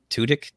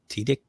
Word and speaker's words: Tudyk: Tudyk? Tudyk? Yeah, Tudyk.